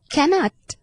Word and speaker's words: cannot: Bad นะ คะ หรือ cannot cannot นะ คะ คำ ๆ นี้ c a n n o t นี้ เรา จะ ต้อง เน้น ที่ พยา หน้า นะ คะ cannot cannot